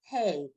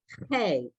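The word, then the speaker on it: ה: And the letter here is hey, not hey. Hey like as horses.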